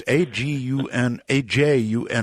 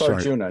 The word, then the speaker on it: Arjuna: Well, it's Ajuna, right? Yeah. It's Arjuna, just like the classic Indian myth.